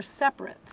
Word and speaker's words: separate: Those were separates.